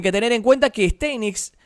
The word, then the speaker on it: Steinitz: tener en cuenta que éste knicks es éste knicks en realidad es la pronunciación poco más correcta era un jugador muy